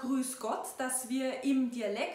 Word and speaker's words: Grüß Gott: “Grüß Gott”, which we pronounce in dialect like “Griass God”, is a little more common for us in spoken language.